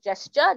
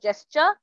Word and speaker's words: gesture: Attracting someone's attention by a hand gesture. Gesture is not gesture, it's gesture.